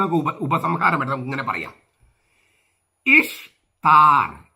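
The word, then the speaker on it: Ishtar: ഉപസംഹാരമായിട്ട് നമുക്ക് ഇങ്ങനെ പറയാം ഇഷ്താർ ഇഷ് എന്നാണ് ഉച്ചാരണം ദേവിയുടെ ഈസ്റ്റർ എന്നല്ല രണ്ട് ബാബിലോണക്കാരുടെ ദേവിയുടെ ഉത്സവമായി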